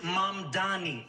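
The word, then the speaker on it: Mamdani: And furthermore, the name is Mom Donnie. M A M D A N I. You should learn how to say it because we got to get it right to Mr.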